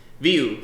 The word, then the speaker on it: VUE: is to unveil all new industrial display series view 5000 and the view 2000 the most diversified